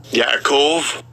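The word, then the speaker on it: יעקב: Let's see how they pronounce it. Strong's H3290. Yaakov.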